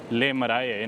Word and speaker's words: Le Marais: Le Marais. Xin lỗi. Không phải Les Marais. Tôi lại quên cách phát âm tiếng Pháp.